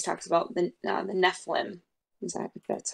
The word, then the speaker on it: Nephilim: Mortal Instruments series talks about the uh the Nephilim exactly that's how you say it um but